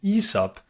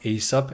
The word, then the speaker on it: Aesop: company we're gonna cover today and the correct pronunciation that's another thing I learned in this research is ESOP not ASAP as I've been calling it ever since I